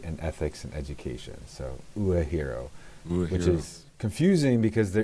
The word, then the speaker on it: Uehiro: So I am the associate director of the University of Hawaii at Manoa Uehiro Academy for philosophy and ethics and education. So Uehiro, which is confusing because there is a Uehiro,